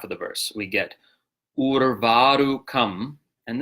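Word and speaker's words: उर्वारुकमिव: we get urvārukamiva, and this is a word that's commonly mispronounced by Westerners trying to do this mantra. Ur, you are, right? Urvārukamiva. Urvārukamiva is the correct pronunciation. We get a lot of people dropping that first R.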